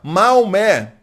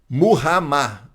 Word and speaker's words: Muhammad: Quando você lê assim, por exemplo, Maomé, Maomé, esqueça, você está lendo em português ou em espanhol, que é Mahoma, você está lendo em outra língua. Se você lê na língua árabe, é Muhammad, Muhammad, né?